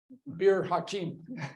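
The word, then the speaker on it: Bir Hakeim: location called beim um pardon my fleem but beer hakeim it would be easier way for me to pronounce it now because of the distances involved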